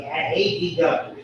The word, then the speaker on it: adductor: You always say adductor. You always pronounce there's adductors and abductors. When you're adducted, you bring your parts into the midline. When you're abducted, we say it just like that.